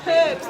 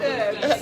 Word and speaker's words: herbs: They're all herbs, not herbs. Yeah, herbs. All right. Yeah, not herbs. We mispronounce or don't pronounce our H's the way we're supposed to.